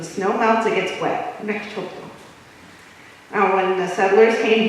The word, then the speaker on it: Mechoopda: Mechoopda Indian tribe. Now I just want to let you know, Mechoopda is a pronunciation that was changed. The original way of saying the name is Mechoopda.